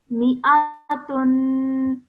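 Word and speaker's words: مائة: Okay, so we don't pronounce that whilst we're reciting. So let's have a look at how we do pronounce it. We pronounce this as mi'atun.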